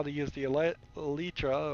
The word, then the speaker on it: Elytra: Like, I still haven't figured out how to use the Elytra or Electra, whatever, Elytra I think is how it's pronounced.